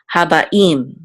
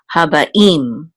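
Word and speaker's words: הַבָּאִים: It's a tipcha, and so we know that the accent of this word is on the last syllable. So habaim.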